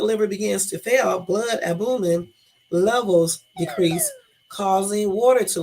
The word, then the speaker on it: albumin: Albumin. Yeah, I said it right. Damn, I be down myself. Y'all, look. Albumin. So it is albumin.